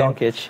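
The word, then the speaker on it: Dončić: Doncic, yeah.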